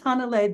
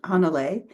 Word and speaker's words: Hannele: is it Han something more like more emphasis on the beginning of it yeah yeah yeah you you put the emphasis on the first syllable okay thank you I